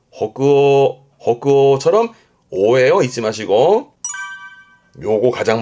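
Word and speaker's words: 北欧: 발음은 호그어 호그오처럼 오예요.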